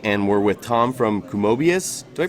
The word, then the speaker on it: Kumobius: Hey guys, we're here at GDC and we're with Tom from Kumobius. Do I pronounce that right? That's correct. Kumobius?